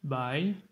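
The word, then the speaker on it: 百: Mais dans tous les cas, pour le moment, on va commencer avec le 100, qui se prononce bai, troisième ton.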